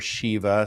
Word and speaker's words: Shiva: in the Trinity and Shiva or Shiva some people pronounce it would be the Destroyer